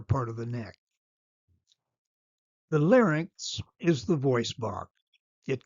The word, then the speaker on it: larynx: fernx close to the larynx. Notice the pronunciation of these words. Larynx is correct. Lex is not. Fernx is correct. It's not called the farx.